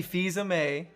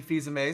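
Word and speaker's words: Fils-Aimé: I totally messed that up Fils-Aime. early. Fils-Aime. I called him like Fils-Aime, which I'm sure he gets all the time. Reggie Fils-Aime. It does look like Phil's aim.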